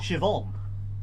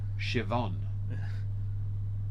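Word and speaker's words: Siobhan: worst one tempy is when it's spelled like that n i a MH and is actually Shon oh sh that's when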